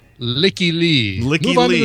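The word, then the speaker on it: Lykke Li: Okay, I'm going to say likely. That is incorrect. It is pronounced Licky Lee.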